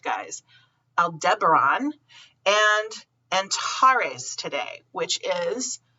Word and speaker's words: Aldebaran: today um we have opposition of aldera let's pronounce it correct guys aldebaran and antares today which is the eye of